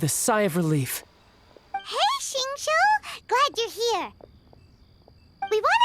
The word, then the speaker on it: Xingqiu: Understood, Master Xingqiu. Then I will leave you in peace. Xingqiu, that's how you pronounce his name.